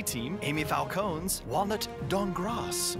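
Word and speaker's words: Dankgrass: team Amy Falcone's walnut dong cross the K is silent create the best venturing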